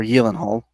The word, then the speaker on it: Gyllenhaal: Okay, so Jake Gyllenhaal Jake Gyllenhaal is in this or Yelenhole is his actual pronunciation of it.